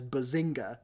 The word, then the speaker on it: bazinga: Before we wrap up, it's interesting to me that you say it with kind of the soft G. Because bazinga. Normally I've heard it as bazinga, but you say bazinga.